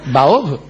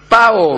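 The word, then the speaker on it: 炮: ¿Baob? Paob. Ah, Paob. Me extraña. No, yo lo estaba pronunciando mal. El tiracohetes es con P, como sabe cualquiera.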